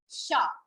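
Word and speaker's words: chat: See, in letter C, the word is CHT. So we are not giving T its sound. What do we call it? We call it sha. It's simple sha.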